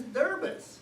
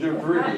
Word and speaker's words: debris: doings and I'm saying what the heck is deris it's spelled debris debris so we've been moving